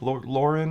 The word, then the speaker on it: Laurent: Lauren is how you say it. It's Laurent, but I think it's French, so, you know, you drop the last few characters.